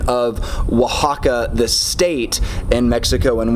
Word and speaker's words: Oaxaca: that Oh ay X is pronounced as a wah in in Spanish so